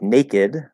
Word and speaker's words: naked: couple exception words like naked where it doesn't end in the t or d but we still pronounce the e and keep the d